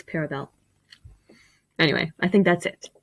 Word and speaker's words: Paravel: but like care paravel he pronounces this cabral but no it's parabel anyway i think that's